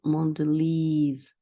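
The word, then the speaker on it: Mondelēz: In such a way, the company expected the customers would pronounce this name as Mondelez with a long sound E.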